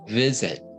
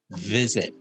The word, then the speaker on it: visit: time i heard the the v was a little bit soft visit a little stronger visit v sound your your lip can be on the outside of your teeth you you don't have to this is this is hard but if you put on that on the outside much easier visit i do hear